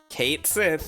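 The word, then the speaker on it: Cait Sith: Kate Sith, that's how it's pronounced in Final Fantasy now for some reason.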